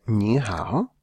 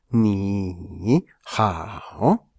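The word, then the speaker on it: 你好: tono pasa a pronunciarse, el tercer tono inicial pasa a pronunciarse como un segundo tono, mientras que el otro se mantiene como tercer tono.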